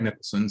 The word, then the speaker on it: Nicholson: No, but just like Jack, you pronounce. Everybody knows Jack Nicholson, so I usually say that.